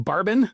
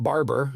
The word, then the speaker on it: Barben: Hey, Cleaning Nation, Mike Campion here with Brakken and Barben, not Barber.